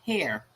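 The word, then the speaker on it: HAER: historic american engineering record h-a-e-r pronounced hair hair records american technology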